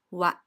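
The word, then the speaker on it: は: topic of the sentence followed by WA this is the hot syllable but since it is a particle it is read as what and it is the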